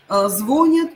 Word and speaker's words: звонят: Ударение пойдет на «я». И мы с вами говорили по поводу этих слов, да, что в этих словах должно ударение уйти за «н».